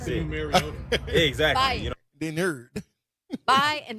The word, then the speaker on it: Mariota: How do you say it? Mario. Like Mario. Mario. Mar. Oh, Mariota. Yeah. Okay. Like Mariota. Super Mario. I would Mario. say Mariota.